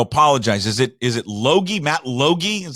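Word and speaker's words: Logie: I'm going to apologize is it is it loie Loi is how you pronounce his name Matt loi's been up Montana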